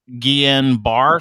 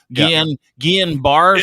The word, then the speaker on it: Guillain-Barré: Pretty sure you may have, I don't even know how you say it, Guillain-Barré syndrome? Yeah. Guillain-Barré syndrome?